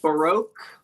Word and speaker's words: baroque: If we if we part the prisms, we can see the baroque.